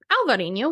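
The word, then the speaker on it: Alvarinho: try a wine called Albarino Albarino or alvarino which is what it's called in Portugal it has a v instead of the B sound is from the Iberian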